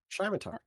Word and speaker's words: scimitar: I have trouble pronouncing weapon names. I'm sorry. Scimitar? Scimitar. Scimitar. Scimitar? Scimitar. Scimitar. Scimitar.